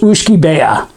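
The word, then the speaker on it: uisce beatha: life in latin it's aqua vitae but it's pronounced ushkibea and again that it's a tough word uh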